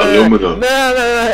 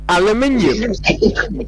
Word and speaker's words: aluminium: No, aluminum. It's not how is it aluminum? Because it's metal. Yeah, aluminium.